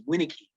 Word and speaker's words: Wynnyckyj: knowing that my my my surname vin nicky was in fact usually pronounced as winiky um which meant that